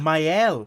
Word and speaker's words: Maëlle: Maëlle. Bet she can't wait to get out of here. That's how it's pronounced.